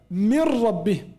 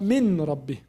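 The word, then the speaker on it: مِنْ رَبِّهِمْ: We don't pronounce noon. We say right away ra, and ra with shadda. We say mir. I moved from mim right away to ra. Say mir, not min rabbi.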